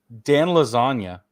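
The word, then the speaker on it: Iassogna: each one of these dudes okay and um Dan lasagna that's how you say his name his accuracy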